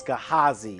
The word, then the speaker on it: Gehazi: You know it's Elijah's servant, and it's Gehazi, is how it's pronounced.